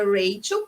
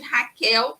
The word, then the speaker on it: Rachel: O meu nome é Rachel, porque ele se escreve no CH, mas a gente está no Brasil. Então, se você quiser me chamar de Raquel, não tem problema.